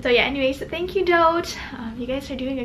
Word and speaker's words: Dote: It's pronounced Doat, like boat, but with a D.